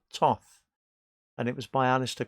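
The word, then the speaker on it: Thoth: Crowley deck Toth Tarot spell th o th but pronounced Tov and it was my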